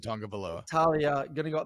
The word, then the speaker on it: Tagovailoa: I like this Maryland offense with Talia Tagovailoa. That's how I've always said it. I could be saying it wrong. I've always said Tagovailoa.